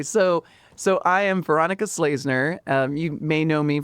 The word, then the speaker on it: Schlesener: So, so I am Veronica Slazner. Um, you may know me from Dog Park Mondays. Uh, my last name is spelled S C H L E S E N E R.